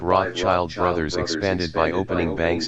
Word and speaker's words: Rothschild: In German, the name is spelled Rothschild and is pronounced Rothschild.